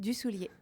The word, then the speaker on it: Dusoulier: You are absolutely Dussolier? saying it right. Dussolier. You don't pronounce the R at the end.